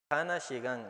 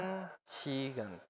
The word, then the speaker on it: 한 시간: Pero no se diría, por ejemplo, Hana Shigan, o sea, una hora no se dice así, sino que se Sí. dice, ¿cómo se dice? 한 시간, Ajá, 한, Han Shigan. 한 시간, No es Hana, sino Han, 한, ¿ok?